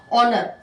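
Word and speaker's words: honour: पहला अल्फाबेट देख लीजिए, इसकी साउंड, साउंड मैं फिर बोल रही हूँ, आपको अल्फाबेट नहीं देखना है, आपको साउंड देखनी है, साउंड।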